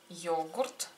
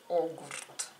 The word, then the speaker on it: йогурт: И иголка, и йогурт, и огурт. Йогурт. Мы как-то уже произносим йогурт, йогурт как буква Ё, да?